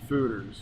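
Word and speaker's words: foeders: then we were really lucky to get some fooders from California, from a big winery in California. Okay. And the fooders hold 100 barrels of something beautiful. Oh, so that's those big barrels are called what? Fooders.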